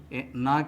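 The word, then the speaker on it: knee: बात यह है कि साइलेंट लेटर के नी के शुरू में ही आ जाता है इस प्रकार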